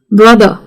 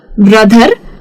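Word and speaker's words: brother: तो रूल ये है कि अगर ये आर का स्पेलिंग किसी वावल के बाद आता है और उसके बाद कोई और साउंड है ही नहीं तो फिर वो हो जाता है साइलेंट। जैसे कि मदर, ब्रदर, कार, फॉर।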